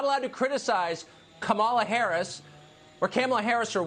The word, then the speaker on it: Kamala: it's kind of so i'm disrespecting her by mispronouncing her name unintentionally so it begins you're not allowed to criticize kamala harris or kamala harris or whatever no because